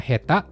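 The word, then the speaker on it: 下手: Ini kanji tangan tapi tidak dibaca t. Keduanya termasuk cara baca khusus. Jadi teman-teman hafal aja. Kanji atas dan tangan bacanya jozu artinya pintar. Kalau kanji bawah dengan tangan bacanya heta artinya bodoh.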